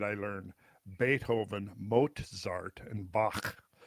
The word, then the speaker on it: Bach: And then then only later did I learn Beethahoven, Mozart and Bach. But no, actually it was years before I went from Bach to Bach.